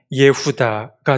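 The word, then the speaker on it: יהודה: 유다라는이 말은 히브리어로 발음하게 되면 예후다가 됩니다.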